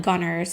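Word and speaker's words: Gunnar: the name well it's it's actually reading like g-u-n-n-a-r but they say like gunners so like gunner gunner i don't know mispronouncing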